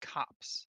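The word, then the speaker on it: copse: are coming from okay I looked it up and I think it's pronounced cops cops okay cops of trees cops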